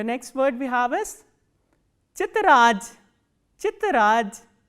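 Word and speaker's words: тетрадь: The next word we have is chitraj. Chitraj. T, ye, t, r, a, d and soft sign. Chitraj. So, as you can hear that the sound of the is softened to j.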